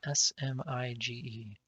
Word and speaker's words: Smige: ocean bug is discussing spelled s-m-i-g-e and ocean bug pronounces it smige spinach the smug quite